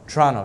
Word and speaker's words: Toronto: Omar sha morning an Lawrence from Toronto Toronto torono that's how they pronounce that's how they say Toronto in in